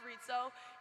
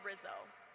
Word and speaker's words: Rizzo: Before I say anything else, it's pronounced Ritzo. Even though I know a lot of you like to say Rizzo.